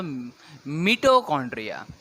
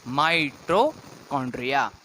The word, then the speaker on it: mitochondria: Some students pronounce it एज अ मिटोकॉन्ड्रिया. Dear students, it इज माइटोकॉन्ड्रिया.